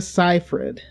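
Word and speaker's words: Seyfried: in time and epic that's the correct way to pronounce that name by the way yes Amanda sigh 'fred ciphered Cathy Burke is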